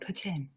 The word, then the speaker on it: poutine: I love that you pronounced that properly. Poutine.